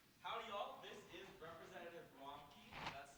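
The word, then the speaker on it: Ramki: This is Representative Romkey. That's spelled R-A-M-K-I for my judges.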